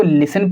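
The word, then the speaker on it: listen: तो आपने देखा TEN जब कभी भी एक साथ आएंगे तो वहाँ पर लेटर टी साइलेंट होगा, लेटर टी साइलेंट होगा। इसीलिए हम इसको लिसन पढ़ते हैं और इसको हम ऑफन पढ़ते हैं।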